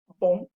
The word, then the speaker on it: bon: The feminine, I am pronouncing the N. It's not nasal anymore. Canadienne. Same idea with bon.